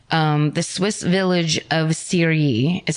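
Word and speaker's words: Cheiry: The next day or it's the same Let's see, it's October 5th in um, the Swiss village of Siri, is how it's pronounced.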